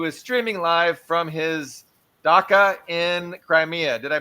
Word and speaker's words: dacha: Ian Cummer, who is streaming live from his dacha in Crimea. Did I pronounce dacha correctly?